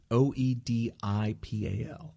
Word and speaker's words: Oedipal: I don't know how to pronounce that. It's Oedipal.